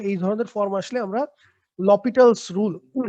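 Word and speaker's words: L'Hôpital's: হসপিটালস rule অনেকে বলে, বাট আমি যতদূর জানি এটার বানানটা হপিটালের মতো হলেও উচ্চারণটা হচ্ছে লপিটালের মতো। আহ, আহ, ভুল হতে পারে, আমি জানি না, তবে আমার জানা মতে লপিটালটাই হচ্ছে অ্যাকচুয়াল উচ্চারণ।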